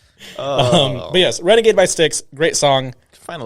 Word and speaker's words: Styx: pronounce it um by yeah by sticks is how you pronounce it yeah okay renegade by